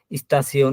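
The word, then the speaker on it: Station: শব্দের শেষে যদি সিয়ন বসে তাহলে পরে এই যে আপনার টে আই ও এন, ওই তখন বললাম সিয়ন, এই সিয়নের মতো উচ্চারণ হবে। যেমন স্টাসিয়ন, ইনফরমেশন, এই যে পসিশন।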